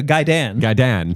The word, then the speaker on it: Gaiden: Now, they pronounce in the film Ninja Gaiden. Gaidan. No, I always went Gaiden. Okay. I've heard Gaiden, but I think it's Gaiden. Gaiden or Gaiden are acceptable. Gaidan, not.